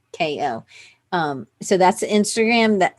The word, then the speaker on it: Chacko: Wacko Chacko. Wacko Chacko. It's just exactly how it seems like it would be spelled. WHACKO. And then just the same thing, but with a C. CHACKO.